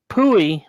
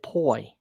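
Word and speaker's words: Pui: It It was Pooie, but she pronounced it poi.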